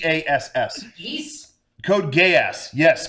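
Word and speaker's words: Geass: five different people backstage how do you pronounce this show code gay ass oh gay ass yes g g how is it spelled yes g e a SS GE code gay ass yes code gay ass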